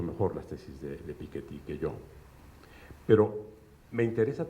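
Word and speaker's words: Piketty: el siglo XXI de piqueti si lo pronunciamos como lo pronuncia él como francés O piqueti como le suelen decir los anglos sajones realmente él es piquet porque es de origen francés bien eh ustedes conocen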